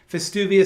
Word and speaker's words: Festuvius: F. Not V. F. Festuvius. Like festive, but uvius.